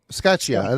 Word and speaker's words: Scaccia: Like an Italian like Scatatchia. Skatia. That's what it is.